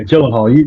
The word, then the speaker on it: Gyllenhaal: Yeah, Gyllenhaal, you're close. Yeah, pronouncing the last name.